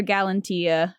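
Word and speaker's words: Galatea: in love with his own creation names her gallantia that's how you say it uh Venus brings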